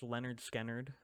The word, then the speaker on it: Lynyrd Skynyrd: mhm um uh Leonard or pronounced Leonard skard uh came out or